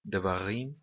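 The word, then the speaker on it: דברים: Da mesma maneira que devarim nós pronunciamos com o acento na última sílaba. É sempre assim no hebraico bíblico.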